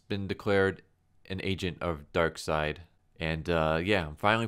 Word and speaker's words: Darkseid: had a you know pronounced he a correct pronunciation for it but now I know so Darkseid anyways a light ray informed Scott that he's